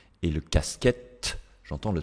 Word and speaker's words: casquette: vous connaissez c'est que en fin de mots la lettre E tombe ne se prononce pas d'accord ça c'est vraiment une règle de base à connaître ici le E je ne dis pas une casquette non je dis une casquette une j'entends le N et le casquette j'entends